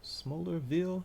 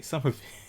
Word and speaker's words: Somerville: Smallerville. Is that how you pronounce that? Smrville. I'm Oh my goodness. I'm dyslexic today. Somerville. I'm saying smolder. Why am I putting a P there? Somerville, Massachusetts.